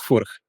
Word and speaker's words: Furch: Actually, Czech pronunciation is Furch. More rolled R and then CH.